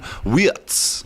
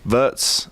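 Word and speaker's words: Wirtz: Florian Wats and I was in Holland with some German lads and they told me the true pronunciation correctly for this fella is Fian Watz. Florian Witz. Verts.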